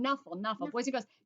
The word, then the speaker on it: Knuffle: Now, Trixie is saying Knuffle, and Sonia's saying Knuffle. Boys and girls, K and N, usually the K is silent, like in the word know, like I know it or I knew it.